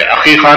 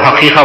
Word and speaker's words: عقیقہ: میں عقیقہ جو کیا، پہلے تو اس کا تلفظ صحیح ہونا جو لوگ حقیقہ بولتے ہوتے، عقیقہ ہے، عین سے ہے وہ۔ عقیقے کا مطلب ہے،